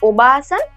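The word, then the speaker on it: おばあさん: Okay, तो देखो, ये लॉन्ग साउंड को आपको जैसे वैसे प्रोनाउंस करना है, क्योंकि लॉन्ग वाला है तो आपको थोड़ा लॉन्ग प्रोनाउंस करना पड़ेगा। ये नहीं है ओबासान, इट्स ओबासान, ओबासान।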